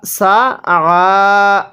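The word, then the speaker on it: سعى: এরপরে সা, সা আইনটা পড়ার সময় গলার মধ্যে চাপ দিয়ে পড়ব, অন্যথায় আইনটা হামজা উচ্চারণ হয়ে যাবে।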